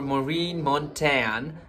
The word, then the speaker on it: Maureen Montagne: I'm Jeevan Tamang, and in this video we're going to be reacting to Miss Globe 2021, and in which our Maureen Montagne, that's how we pronounce, from Philippines have won.